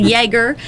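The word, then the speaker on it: Ioerger: Nobody knows how to pronounce them because it's I-O-E-R-G-E-R. So I don't. In the community, I think they're pronounced a couple different ways, but it's a Jaeger, and the Jaeger Farms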